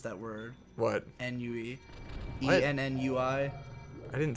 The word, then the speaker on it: ennui: That's probably not how you pronounce that word. What? Ennui.